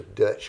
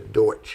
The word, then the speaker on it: Deutsch: okay that means the black forest of the Dutch or Deutsch Community the Deutsch is actually how it's supposed to be pronounced it's not really Dutch but uh Deutsch